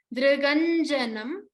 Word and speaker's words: Driganjanam: This is a dr. We do not pronounce dr with a dri or a dru. It is just the dr. D plus r as in rishi.